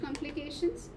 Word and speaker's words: complications: Complications. Where do you put the stress? C. Right. With C. There are two C's. In between C. Okay. The syllable before shun. So before complication.